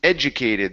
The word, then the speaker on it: educated: Next is educated. The stress is at the beginning here.